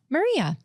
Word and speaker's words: Marija: And my name is actually spelled Marija in Serbian because I'm Serbian, for those who don't know. But how do you pronounce it? Maria. Oh, But our J is Y.